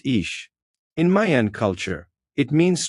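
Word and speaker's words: Ix: It is the domain of white nine pronounced ish.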